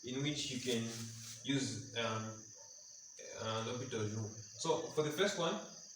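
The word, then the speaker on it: L'Hôpital's: question 1 was on L'Hopital's theorem. It has different pronunciations, but then this is how you pronounce it. Others can say a hospital, potato, potato, anyway.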